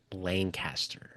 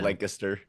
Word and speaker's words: Lancaster: Burt Lancaster. You said Lancaster. Yeah, that's how you say it in Pennsylvania. Lancaster, Pennsylvania. Lancaster. What's the? It's Lancaster in California. In Pennsylvania, it's Lancaster.